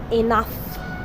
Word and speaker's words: enough: المرة دي لو سبقها مجموعة IU بتتنطق كصوت F، زي كلمة enough يكفي، زي كلمة كاف سعال.